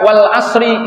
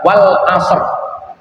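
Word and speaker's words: والعصر: yang lebih tepat membacanya itu mestinya bukan Wal Asri Innal insana lafi khusrin illa itu juga benar tapi yang paling tepat sesuai dengan konteks diturunkan ayat pada saat itu adalah Wal Ashr Innal insana labi khusus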